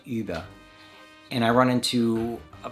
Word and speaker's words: über: And in English you just say Uber. But in German it's actually über.